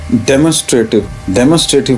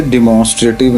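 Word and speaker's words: demonstrative: अभी हमने वो पढ़ा है ना, तो हमने इसे डिमॉन्स्ट्रेटिव नहीं पढ़ना मेरा बेटा। क्या इसको प्रोनाउंस किस तरह से करेंगे, ये देखिए डेमोन्स्ट्रेटिव, और ये रेटिव भी नहीं, राटिव, ठीक है।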